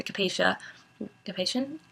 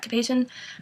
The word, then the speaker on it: Cap-Haïtien: area in the center of Haiti, and then Cap-Haïtien, I always mispronounce that, Cap-Haïtien, which is on the North Shore and is absolutely beautiful.